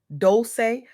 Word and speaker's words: Dolce: Welcome to the soft girl era podcast hosted by Dolce, pronounced doulce like sweet softness whispered in French.